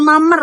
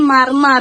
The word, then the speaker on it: marmer: Kata marmer itu kadang diucapkan ee mamer ya. Jadi enggak ada R-nya ya. Dalam percakapan cepat untuk menghindari pengulang bunyi R ya. Sering banget diucapkan kayak ee mamer gitu kan. harusnya kan marmer ya.